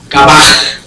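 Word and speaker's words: גבה: Es la palabra en hebreo, o sea que sería H 1361 y se pronuncia Gabaj, es altivez. Gabaj 1361 en el diccionario si quieren buscar el significado.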